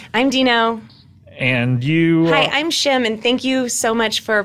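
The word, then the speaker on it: Shame: Dino and you I'm chemin thank you so much for pronouncing my name correctly oh you're welcome yeah it's a it's SH AME yes SH AME yes of course I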